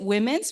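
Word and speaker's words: WEMNS: We pronounce it Women's. We think it's fitting because it is a measure of women's empowerment.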